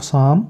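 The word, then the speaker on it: psalm: जाएगा इस तरीके से अ यहां पे साम अब इसको वैसे देखेंगे तो साम लेकिन यह पी साइलेंट हो जाएगा क्यों क्योंकि एस या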